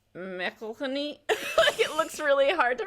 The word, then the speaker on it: McElhenney: Rob mcelhenney and because everyone pronounces his name wrong because it's Mecca honey it looks really hard